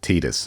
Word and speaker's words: Tidus: Yes, the producer Nakashima said Tidus and pronounced it Tidus.